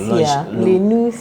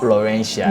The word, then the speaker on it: Lenusia: How do they call you? Lenusia. Lenusia. Yes. Okay, that's how they say it. Lenusia. Okay, not Laurentia. No.